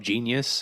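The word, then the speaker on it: JEEN-YUHS: It's called Genius, and it's spelled like J-E, like the phonetic spelling, JEENYUHS.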